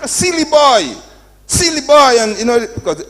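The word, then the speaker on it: Sealy: and you know because s e a l y which is my name but s i l l y which means stupid and foolish they all they pronounce the same you know so they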